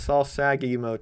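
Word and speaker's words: Sal Sagev: It's Saul Sagav, pronounced Saul Sagi Hotel, Las Vegas, Nevada.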